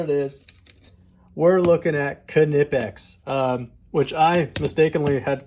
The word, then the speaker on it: Knipex: gonna know what it is we're looking at canipex um which i mistakenly had called nypex for most of my life until someone at